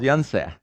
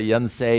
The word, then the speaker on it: Yonsei: a diphthong it's o but korean vowels are all simple vowels so one of the major universities in korea is called yanse yanse but there are people that look at it and english size it and then to english-size it you put a diphthong on it you want to be a diphthong because you speak english and the diphthong is say unsay university people say yan say university that's wrong it's not